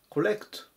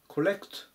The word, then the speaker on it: collect: ます。757 番 collect、 collect、アクセントに注意ですね。このレの部分 E の上を強く読みます。